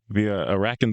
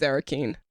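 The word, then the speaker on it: Arrakeen: The Arakan bullworm. It is Arakeen.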